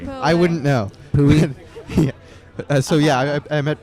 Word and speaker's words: Poway: It's pronounced Poway, by the way. They got that wrong. Oh, yeah, They taught you guys sorry, correctly. yeah. I wouldn't know. Pooey.